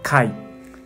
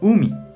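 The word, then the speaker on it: 海: Onyomi pronuncia kai. Kai. Kunyomi pronuncia umi.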